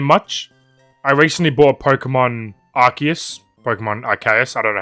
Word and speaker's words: Arceus: I recently bought Pokemon Arceus. I don't know how to pronounce it. Arceus. That's it, what he said, Arceus.